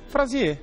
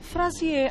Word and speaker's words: Fraisier: Olha, como se pronuncia? Frazier. Frazier.